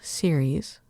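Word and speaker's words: Ceres: There is um series which is the goddess of um grain and it's c e r e s and then there is which is s e r e s and they're just slightly pronounced differently.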